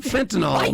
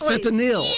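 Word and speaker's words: fentanyl: know you know does it's not fentol Mary it's fanil n y l yes that's exactly I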